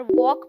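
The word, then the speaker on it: walk: पता हो for example जब मैंने पहली बार वॉक पढ़ा था तो मेरा तो इंग्लिश से विश्वास ही उठ गया था कि भाई जब एल बोलना ही नहीं है तो यह यहां कर क्या रहा है बिना एल के ही स्पेलिंग बना देते पर मेरा जोर तो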